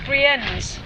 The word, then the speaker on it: Brienz: Lake Brienz. It's Brienz.